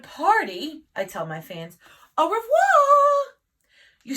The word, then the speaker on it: au revoir: a glamorous hollywood party i tell my fans au revoir you say it like this that's french for